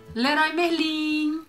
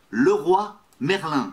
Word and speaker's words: Leroy Merlin: Leroy Merlin.